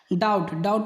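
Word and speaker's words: doubt: पहले जहाँ भी बी पाया जाए तो वो साइलेंट रहता है। टैड माने होता है कर्ज, डाउट माने होता है शक।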